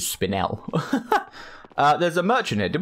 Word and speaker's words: spinel: I actually looked up, that's how you pronounce that word, is spinel.